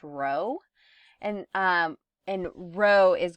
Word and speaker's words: rho: and alternative hypothesis and that symbol there is pronounced rho and um and rho is going to be